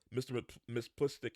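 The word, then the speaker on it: Mxyzptlk: guy and you can see it says um Miss plistick is the only dude for me it's hard to pronounce his name because as you can see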